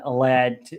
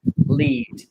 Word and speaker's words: Led: The group dropped the A in Led at the suggestion of their manager, Peter Grant. So those unfamiliar with the term would not pronounce it lead.